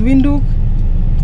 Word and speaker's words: Windhoek: And Windhoek, if you've been pronouncing it as Windhoek, just know it's the capital city of Namibia.